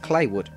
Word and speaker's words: Claywood: The game takes place in Rockstar's fictionalised version of Kentucky called Claywood, pronounced like Clay.